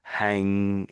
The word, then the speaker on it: hanging: So with the ng, it's that it's making the sound at the back of the throat, which is tricky, isn't it? So hanging, hanging. So I'm not really saying an N or a G, am I, yes.